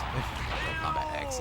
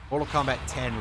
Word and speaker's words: Mortal Kombat X: Mortal Kombat 10, rather. I see a Roman numeral X, and I'm just immediately inclined to pronounce it as X.